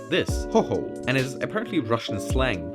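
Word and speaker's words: Khokhol: I pronounce his name like this: Cockhole, Warden and Bashkir. Cockhole? Cockhole? His name is actually supposed to be pronounced like this, Hoho, and is apparently Russian slang to talk about a Ukrainian.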